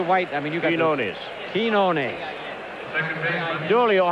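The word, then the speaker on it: Quiñones: I mean, you got Quinones. Quinones. Julio, how do you pronounce it? Quinones. Okay. Quinones.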